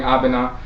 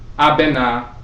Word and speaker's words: Abenaa: If you look at the name Abenaa she's also called Abraba. So Benaa is also pronounced Bera or Bra.